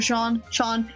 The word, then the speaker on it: Jean: But then Jean and Jeremy's trilogy happened, or Sean, he's French, I need to pronounce it French, I need to French it. It needs to be French. Ho ho ho.